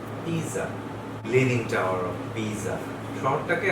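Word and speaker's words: Pisa: যদি শব্দের মধ্যে দুটো ভাওয়েল থাকে এবং তার মধ্যে এস বসে, তাহলে উচ্চারণের নিয়মটা আবার পাল্টে যাচ্ছে, তখন উচ্চারণটা হবে সি। সেই কারণে যে বিখ্যাত শহরটা আপনারা দেখতে পাচ্ছেন ছবিতে, সেটা হচ্ছে পিজা, lining tower of পিজা।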